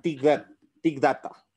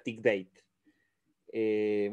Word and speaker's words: Thick Data: Bienvenidos a este nuevo video que titula Tic Data, o si no, una pronunciación para los que saben inglés sería Tic Date.